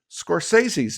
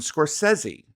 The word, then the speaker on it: Scorsese: And this drives me crazy because I found out that we I'd been mispronouncing Martin Scorsese's name, which is now Martin Scorsesi.